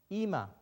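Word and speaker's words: אמא: right from here so we have an e and then we have a ma ima the aleph at the end is silent you cannot hear it it's not audible why is that because it doesn't have a vowel simple a letter doesn't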